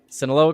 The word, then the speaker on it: Sinaloa: According to a recent report, the Sinaloa did I say it right? Yep, Sinaloa cartel and the wait, why? Okay, how do you pronounce the A?